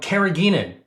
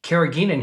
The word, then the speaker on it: carrageenan: The first thing I want to talk about is something called carrageenan.